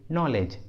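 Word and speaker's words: knowledge: के है इसलिए के साइलेंट है, इसका सही उच्चारण होता है नो, नो। अगला एग्जाम्पल देखिए नॉलेज, नॉलेज, देखिए इस इंग्लिश वर्ड में के और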